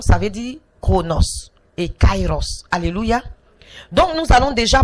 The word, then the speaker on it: Kairos: chronométrer et donc ça veut dire chronos et Kairos alléluia donc nous allons déjà parler du Kairos